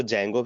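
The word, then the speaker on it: Django: Web application, इसमें क्या होता है कि आप लोग इसमें डी जैंगो, जिसको जैंगो भी बोलते हैं, डी को साइलेंट करके, ठीक है।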